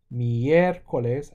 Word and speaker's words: miércoles: Lunes, martes, Miércoles, accent on the E.